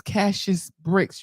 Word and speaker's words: Cassius Bricks: So his name is Cassius Bricks. You can find him on Facebook or Instagram. The way it sounds is the way it's spelled.